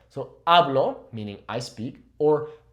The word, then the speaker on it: hablo: does have an accent, make sure that you're properly pronouncing that O. You're really emphasizing the O. So hablo, meaning I speak, or habló, meaning he spoke or she spoke.